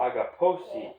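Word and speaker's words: ἀγαπῶσι: Agaposi, put the accent on the O. Agaposi.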